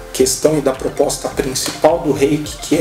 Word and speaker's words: Reiki: muitos telespectadores que o 'rei que né a pronúncia correta em japonês é a lei que é ea questão de